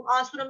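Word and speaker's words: आसुरम्: आसुर के ऊपर जो अनुस्वार है उसका उच्चारण आधा म, तदंत म।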